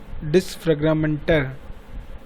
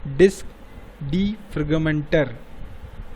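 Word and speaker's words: Disk Defragmenter: ऐसी मतलब डिस्क फ्रेगमेंटर। क्या है? गलत प्रोनाउंस हो गया। डिस्क डीफ्रेगमेंटर।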